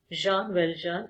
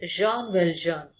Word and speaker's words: Jean Valjean: Children, the pronunciation of this name is Jean Valjean because it's a French name. Okay, so it is pronounced as Jean Valjean, and you all know that the author is also a French author.